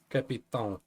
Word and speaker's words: capitaine: Capitaine. Yes, French pronunciation of captain is capitaine. Right? Capitaine? So you want more of a 10 sound, I imagine.